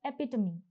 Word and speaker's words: epitome: Now, you don't pronounce this tome as tome. No, the pronunciation is epitome.